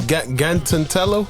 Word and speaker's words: Gantello: And how how do you say is it Gantello? Gant Donatello. Yeah, Gantello. Okay. Like Donatello. Okay.